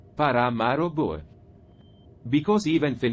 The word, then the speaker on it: Paramaribo: And the capital is Paramaribo, which is pronounced Paramaribo.